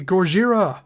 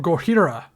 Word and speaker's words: Gojira: 70, Gojira, or Gojira, depending on your pronunciation. I don't judge you for either way you pronounce it.